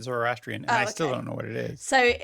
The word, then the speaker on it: Zoroastrian: But he was born into a Zoroastrian or Zorostrian. I don't I've heard it pronounced different ways. I've only heard it Zoroastrian and I still don't know what it is.